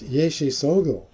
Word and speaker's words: Yeshe Tsogyal: How I pronounce it, that's not how everybody else necessarily does, is Yeshe Tsogyal. Okay. Yeah, I've been saying Yishi Tsyokal.